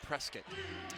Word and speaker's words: Prescott: after about 10 years they said let's go to arizona let's go to prescott valley and so in 2016 it was the northern arizona suns the arizonians pronounce it prescott oh okay my bad i know i had